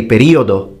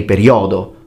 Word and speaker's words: periodo: So stress is also another important factor, and that's the same for foreigners who speak Italian, because for example we say periodo, we don't say periodo.